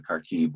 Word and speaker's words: Kharkiv: It's spelled Kharkov because it's the Russian version of it from when what it was at the time, but it's really Kharkiv, which I'm sure we're all familiar with, which Kharkiv being the proper Ukrainian pronunciation.